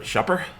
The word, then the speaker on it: Schupper: So today, I'm very pleased to have as my guest, Ellen Friebert Schupper.